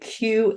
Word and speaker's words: Kabbalah: So the Qabbalah, she pronounced it, and she said that is Kabbalah. She pronounced it in her throat, and it means to receive Allah.